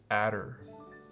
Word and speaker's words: Adder: Well, the company name is Adder. You need to include the R.